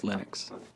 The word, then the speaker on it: Linux: And I really don't care how people pronounce my name, but Linux is always Linux.